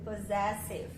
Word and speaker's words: possessive: Só você lembrar que é o som do Z. Então, primeiro SS, ó, primeira sílaba do SS, som do Z mesmo, Zé. E schwa no início, ó. Tá com a letra O aqui, só que é com o somzinho do schwa.